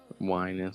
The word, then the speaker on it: Wynand: But yeah, my last name is Wynand, so it's like wine and cheese. Whining. So whining like a baby.